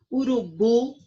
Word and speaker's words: urubu: Urubu, o bu é a sílaba mais forte.